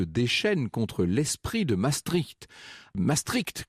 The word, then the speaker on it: Maastricht: contre l'esprit de maastricht maëstricht comme dit d'ailleurs jean marie le pen il semble que ce soit la bonne prononciation au demeurant à gauche